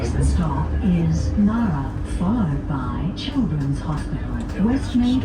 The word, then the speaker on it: Ngara: reasons that stop is called Ngara and not Ngara, as I can pronounce it. Ngara. Yeah, so with the silent G.